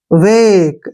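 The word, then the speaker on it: wake: रहा है समझ में के ई का उच्चारण हम क करेंगे क्योंकि ई हमने नहीं पढ़ना है वेक ऐसे हो गया वेक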